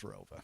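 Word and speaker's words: ROWVA: There was an additional town added after I graduated, but it's always been pronounced as Rova.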